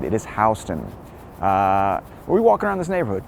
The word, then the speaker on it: Houston: Today's neighborhood is SoHo, which actually stands for South of Houston, and that's pronounced Houston, even though it's spelled like Houston.